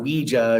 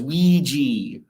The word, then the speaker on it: Ouija: I go with the traditional French pronunciation. Because it's hui for French for yes, and ja, which is yes. That's a yes/no board.